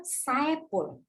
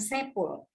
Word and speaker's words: Saepul: Rohman kadangkala Asep Saepul ada Saepul ya bukan Saeful Nah itu teman-teman itu